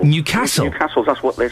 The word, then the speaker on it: Newcastle: Cuz we don't down here down south, we say Newcastle, but of course it's not Newcastle. It's Newcastle. It's not even Newcastle. It's Newcastle. Newcastle. You put the weight on the castle. Newcastle.